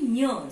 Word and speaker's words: ञ: And when you are doing the pronunciation of the letter, it will be Nya. Some nasal sound will come.